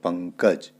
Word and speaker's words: पंकज: रंग इसी तरीके से पंकज क से पहले अ अनुस्वार आया हुआ है तो इसलिए क वर्ग का पंचम अक्षर अंग तो पंकज यहां पर आया इसी तरीके